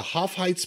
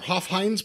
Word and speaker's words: Hofheinz: Saturday July 9th at the Hoff Heights Pavilion are Hofheinz Pavilion I guess you say the Hofheinz Pavilion Houston Texas oh so